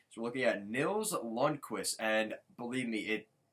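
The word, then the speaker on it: Lundkvist: So we're looking at Nils Lundqvist, and believe me, it's as crazy as it sounds. It sounds exactly like Lundqvist. It's spelled a little differently, but it's just funny that he has pretty much the same name.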